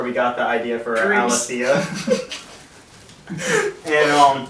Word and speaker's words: Aletheia: And I'm here today with a new band of old band members, and I can't pronounce their name, so I'm going to let you It's Aletheia. Aletheia.